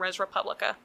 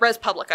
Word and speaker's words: Res Publica: have been recommendations from res república at Res Publica I keep mispronouncing it that's a website it